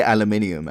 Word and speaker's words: aluminium: We would call it in America aluminum. Aluminium. Yeah, we say aluminium, actually.